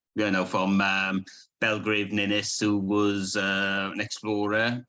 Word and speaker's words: Ninnis: watching um this is am I pronouncing it correctly uh yes ninis um and uh that's another story okay perfect